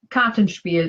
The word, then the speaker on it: Kartenspiel: And phrase 15 is Kartenspiel. And Karten is card, Spiel is game. So I'm going to go with card game. But is my pronunciation correct? Kartenspiel is a card game, yes.